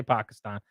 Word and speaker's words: Pakistan: and yells at me how I say Pakistan I say it right okay whoa that's how Barack Obama said it that's supposedly the right way to say it okay I'm just saying